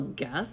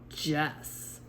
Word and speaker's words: guess: make the J sound this word if we were going to spell guess the way it is g e s it has this g e after it which would make it say Jess so the U's job is to protect that g so it stays the hard sound G because without that U